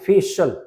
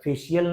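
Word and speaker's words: facial: नहीं है ठीक है आगे फेशल फेशियल नहीं सही प्रोनंसिएशन क्या है फेशल सीआईएल जहां भी रहेगा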